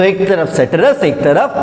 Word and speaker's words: ceteris: एक का प्रोनाउंसिएशन है सेटिरिस और दूसरे का प्रोनाउंसिएशन है पेरिबस। ठीक है, तो सेटिरिस और पेरिबस।